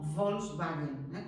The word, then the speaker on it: Volkswagen: que vienen del alemán, como Volkswagen, que ahí hacemos como Volkswagen, como si fuera una V, pero porque son palabras que todavía no están adaptadas al castellano.